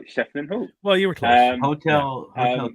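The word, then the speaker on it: Schieffelin Hall: But one location that they really keen to do was mispronounced Shetland Hall. Shefflin Hall. Oh, I said it right. Shefflin Hall.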